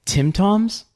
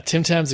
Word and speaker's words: Tim Tam: but I just discovered I'm going to say it wrong Tim Toms Tim t Tim Tims yeah tim tams are great okay I we